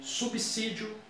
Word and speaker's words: subsídio: Aqui o S, no português formal, tem um som como se fosse de C. Subsídio, subsidiar.